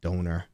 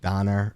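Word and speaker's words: Döner: we were getting um it's not pronounced donor it's pronounced like Donner or something don't quote me on that in Germany but they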